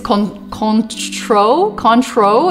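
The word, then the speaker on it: Cointreau: talked about this is Con control is how Americans say it the French name is probably pronounced something much more difficult like console or something like that I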